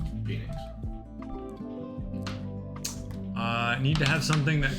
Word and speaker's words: Phynix: Phoenix. The H is silent. Yes. Phoenix.